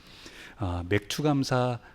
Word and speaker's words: 맥추: 그래서 어릴 때 웬 맥주라고 하는가 그랬는데 맥주가 아니고 뭐라고요? 맥추입니다. 맥추. 그래서 보리를 추수하고 그러면서 첫 열매를 드리면서 드렸던 감사의 절기입니다. 맥추감사 그 부분을 넣어서 또